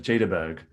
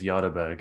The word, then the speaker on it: Jaderberg: in england everyone says jadaberg but as as he said it's yardaburg it's a swedish name um so you know